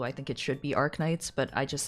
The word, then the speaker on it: Arknights: Some people say Arknights, some people say Arnights. I just say Arnights.